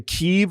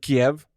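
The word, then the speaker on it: Kyiv: Is that the correct pronunciation? Lutu. Yes. It's like now we know how to say Keev instead of Kiev.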